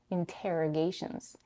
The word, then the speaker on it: interrogations: T, t, interrogations.